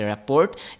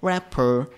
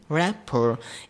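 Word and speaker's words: rapport: এটা হচ্ছে আমাদের রেপোর্ট বাট বেসিক্যালি এই রেপোর্টটা এরকম প্রোনাউন্সিয়েশন না এটার প্রোনাউন্সিয়েশন হচ্ছে র‍্যাপার আমি যদি আরেকবার বলি র‍্যাপার এরপর আমরা যেটা দেখব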